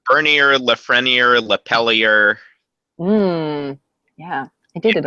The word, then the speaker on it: Bernier: Am I pronouncing your last name right? For everywhere but Maine, yes. People say that. It's Bernier, Lafreniere, Lapellier.